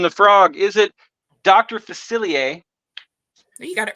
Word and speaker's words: Facilier: for Princess and the Frog is it Dr facilier you got it right or you're right did